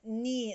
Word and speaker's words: knee: according to this row some letters do not pronounce before if you are the letters for example w before uh right wrong k before n knee no knife g before and no gnome net little children adore riding